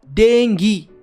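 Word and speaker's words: dengue: बीमारी का नाम था डेंगू। अब ये जो डेंगू है एग्जैक्टली आप बोलोगे सर डेंगू होता है। डेंगू नहीं होता। डेंगू ही होता है। इसको एग्जैक्टली प्रोनाउंस डेंगू ही करते हैं।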